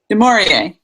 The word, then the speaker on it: Du Maurier: Bedelia, how do you pronounce her last name? Du Maurier.